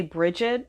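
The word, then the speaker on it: Brigid: see goddess oh well people typically say bridget um but supposedly her name is pronounced brie um i'll say bridget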